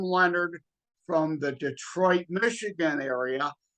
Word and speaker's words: Lenard: Yeah, and then also my last name is pronounced Leonard, like we discussed before Yes. starting the recording. It looks like Lenard. Uh-huh. It's not French. It's Leonard, but no O in it. Like the first name Leonard has an O in it.